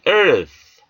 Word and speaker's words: earth: 윗니로 아랫입술을 살짝 누르시면서 발음을 내미시면서 foundation, the earth, 땅, 흙, 지구. th 사운드는 우리말에 없는 음가입니다. 따라서 윗니와 아랫니로 혀끝을 살짝 누르시면서 발음을 내미시면서 earth, earth. 따라서 본 단어를 earth나 earth라고 발음하지 않습니다. The earth, the heavens, the heavens, 하늘, 천국.